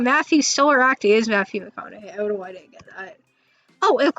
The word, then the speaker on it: McConaughey: the mcnaughty look i don't know how to pronounce the connor here mcconaughey um oh mcconaughey yeah hey okay yeah i should bring some